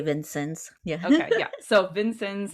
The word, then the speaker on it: Vincennes: The biggest trade city, I don't know how Indiana pronounces it. It's Vincennes. Vincennes. Yeah. Okay. We say Vincennes.